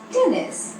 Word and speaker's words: टेनिस: टेनिस इसका गलत उच्चारण है। इसे सही तरीके से बोलने के लिए पहले बोले 10, फिर बोले निस, दोनों को जोड़कर बोले टेनिस। एक और बार टेनिस, फिर से बोलिए टेनिस।